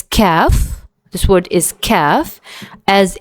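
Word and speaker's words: كاف: Uh we pronounce it exactly like the K in the word kayak. Okay. So it's calf.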